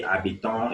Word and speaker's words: habitons: You can see habitons is underlined and it's starting with a silent H.